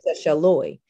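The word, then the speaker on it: Seychellois: So one is Seychelles and the other is Seychelloy. So my name ends in E-S, like after the islands, but the Seychelloy ends in O-I-S.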